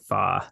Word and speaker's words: Fach: So it's spelled Right. Fach, so Fach, but it's Yep. pronounced Fa.